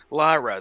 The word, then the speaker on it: Lyra: I can practice the thing a hundred times, so I'm always a little cautious, but yeah, Lyra, that that's correct.